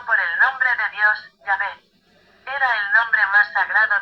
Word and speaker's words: Yahvé: castellano se escribe y a la pronunciación Yahvé es, sin duda, la pronunciación más correcta del hebreo original para indicar a Dios como yo soy el que sois los judíos de la T.